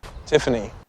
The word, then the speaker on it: Tiffany: 표현인데요 여기서는 티파니가 아니라니 F 발음 주의하면서 tiany tiany tiany 이렇게 발음해 주시고 그럼 같이 따라해볼게요 tiany